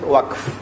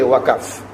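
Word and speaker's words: waqf: and give it us wak now you must not say wakf because the word is in the Quran you must pronounce it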